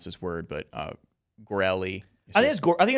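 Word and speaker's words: Goerli: pronounce this word, but Gorelli. I think it's Gorley. I think Gorley. from everything I've seen, I think it's Gorley. Gorley. It's not Italian. It actually is German, it looks like.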